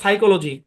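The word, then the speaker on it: psychology: যেমন সাইকোলজি সাইকো। Psychiatrist. এগুলোতে প্রত্যেকটাই শব্দের শুরুতে পিএস আছে পি সাইলেন্ট।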